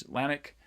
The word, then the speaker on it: Atlantic: And hopefully you can hear that there is stress on the second syllable of each one of these: Atlantic, atrocious, America, arcade, astronomy, and arthritic.